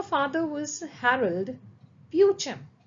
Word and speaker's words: Beauchamp: A father was Harald ब्यूचम ब्यूचम so here the पी is silent be very careful about the pronunciation Her father was Harold Beauchamp and the name of her mother was Annie Bonnell Beauchamp.